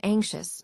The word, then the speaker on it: anxious: The silent eye in anxious makes it sound a bit more delicate, matching the gentle worry it describes.